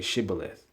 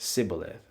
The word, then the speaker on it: Shibboleth: You could say Sibboleth, or you could say Shibboleth, and the Ephraimites pronounced it without the H, just Sibboleth.